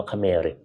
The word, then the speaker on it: เขมร: พระนคร ช่วง อดีต อ่ะ สระเอ ข ไข่ ม้า ร เรือ อ่าน ว่า คเมริ เค้า ก็ อาจ จะ